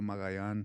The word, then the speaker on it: Magallan: So anyone down in Granjeno, Texas, okay, McAllen, Texas, Mission, Texas, Granjeno, Texas, Alzaldúa, Magallan. That's how you say it in Spanish.